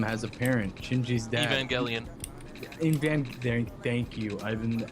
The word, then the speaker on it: Evangelion: Evangelion. Thank you. I've been like I forgot how to pronounce it.